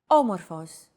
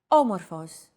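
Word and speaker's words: όμορφος: a language is intonation did you notice the accent mark above the first letter there is only one type of accent mark in modern greek the acute accent it adds stress to a syllable a stressed syllable usually lasts longer and has a slightly higher pitch than the rest other than pitch accents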